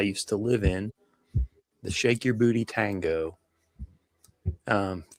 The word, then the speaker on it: Sheik Yerbouti: So he he he does pronounce it shake your booty.